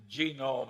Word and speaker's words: genome: i mentioned that one book genome i have a hell of a time putting the accent on the first syllable but that is a